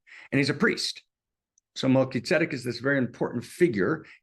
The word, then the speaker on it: Melchizedek: And in English, I know in spiritual circles, they pronounce it in some weird way, Melchizedek or something like that, right? That's the worst Hebrew pronunciation in the world, Melchizedek. Okay, but Melchizedek.